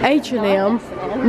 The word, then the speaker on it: H&M: H&M.